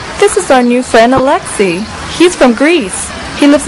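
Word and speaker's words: Alexi: Well, it's pronounced Alexei, but it is spelled A-L-E-X-I.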